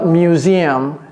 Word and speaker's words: museum: Deux sons dans une seule syllabe, la syllabe U là. Music. C'est la même chose ici. Museum.